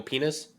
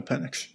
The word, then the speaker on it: Penix: You mean Michael Penis? No. I pronounced it correctly. It's Michael Penix.